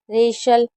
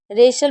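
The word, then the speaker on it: wrestle: जैसे right रीस्ट wrong rap rack रेशल रेशल में T silent है। जब भी एच टी एल ई साथ में होगा तो टी को नहीं पढ़ेंगे।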